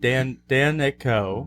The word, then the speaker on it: Danicko: is more how you pronounce it. Danico.